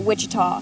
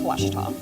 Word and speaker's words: Ouachita: Back in Texas, everybody pronounces it Wichita. One more 30, fellas. It's Ouachita.